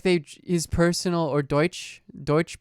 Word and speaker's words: Deutsche: his personal or deutsch deutsche bank people pronounce it dutch in english okay listen cops are